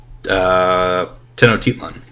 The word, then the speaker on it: Tenochtitlan: So, being the capital and everything, based in the old Aztec capital of Tenochtitlan. Yeah, that's how it's pronounced.